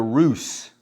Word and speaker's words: Rus: The tribal group were known as the roose. Rus, the roose, which is of course where you get the name Russian uh or the country Russia.